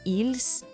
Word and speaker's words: ils: O s final dos dois é completamente mudo, ou seja, na fala il no singular e ils no plural são exatamente iguais.